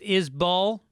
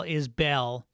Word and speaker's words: Isbell: john gotts said um i think it's pronounced izbull but don't change it it's talking about jason isball who i call is bell he says i think